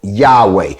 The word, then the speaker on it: Yahweh: letters and it spells y a w h pronounced yahweh which is the hebrew